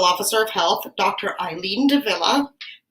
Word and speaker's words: de Villa: Eileen de Villa, whose name rhymes with another person who's famous. Cruella de Vil?